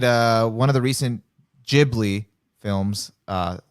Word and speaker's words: Ghibli: one of the recent ghibli films uh you know not hard g no i had to